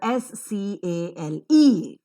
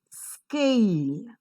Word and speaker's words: scale: Now observe the pronunciation of k sound here. The k, because it doesn't occur in the initial position of the word, is not aspirated. So it doesn't have the h sound there.